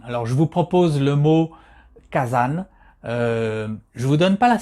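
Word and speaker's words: 火山: façon dont il est créé donc ce mot kazan qui est composé de deux qu'angie le premier qu'angie car qui se prononce cas qui représentent le feu et puis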